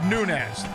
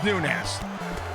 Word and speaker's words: Nunes: early on Rousey now it's Nunez not n yes we checked it is indeed nunz you don't pronounce the why in that it's just nunz all right again lots